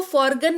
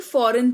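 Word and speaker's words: foreign: तो सिर्फ एन का उच्चारण होता है और जी जो है वो साइलेंट रहता है। तो इसको फॉर्गन नहीं फॉरेन पढ़ेंगे।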